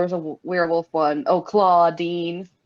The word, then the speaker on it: Claudine: Oh, Claudine. Like claw spelled like claw.